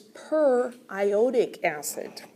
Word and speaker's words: periodic acid: it's not what what no it's per iodic acid but thankfully you know